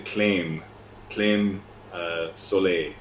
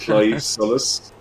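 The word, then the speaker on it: Claimh Solais: my heart so um everyone calls it the claim claim uh solay I don't know if you if you've seen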